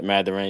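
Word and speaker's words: Mathurin: Uh, Benedict uh, Matherin. Is that how you say his name? Yeah, Ma Matherin.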